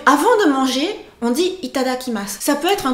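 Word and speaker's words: いただきます: si syllaves retenez surtout au niveau de la rythmique je dis assez rapidement les cinq premières syllaves et le dernier je fais un le dernier est mu donc ne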